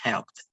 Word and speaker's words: helped: helped help and in the pronunciation is helped with t helped help okay the